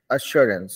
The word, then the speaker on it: assurance: हो रहा है, अ, वो हमेशा जो है, वो ए नहीं होके अ प्रोनाउंस होता था। About, अश्योरेंस, About.